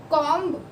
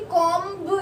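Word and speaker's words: comb: कॉम मतलब कंघी, ठीक है ना, कॉम्ब, कभी भी कॉम्ब नहीं बोलते, कॉम बोलते हैं, और ये बी साइलेंट होता है।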